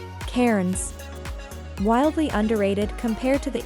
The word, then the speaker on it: Cairns: Cairns, hint, do as the Aussies do and pronounce it like Cairns, is a veritable natural wonderful.